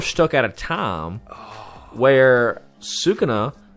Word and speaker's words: Sukuna: So now we're stuck at a time where Sukuna, that's how you pronounce it, right? Sukuna?